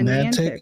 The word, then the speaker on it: Niantic: I don't know how to pronounce that. Niantic? Yeah, Niantic, right?